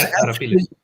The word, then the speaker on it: Arapiles: Spanish frigate, ironclad frigate, Arapiles, I think is how you pronounce it, was Arapiles. Pardon? Yeah, correct.